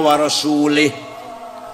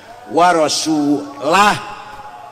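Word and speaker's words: وَرَسُولُهُ: Nah, ada lagi orang baca Quran salah. Waallaha barium minal musyrikina wa rasulih. Allah tidak melindungi orang musyrik dan tidak melindungi Rasulullah. Salah karena bacanya salah. Yang benar waallaha barium minal musyrikina rasulah. Allah tidak melindungi orang musyrik dan Rasulullah pun tidak melindungi orang musyrik. Wah rasulah beda dengan warasulih.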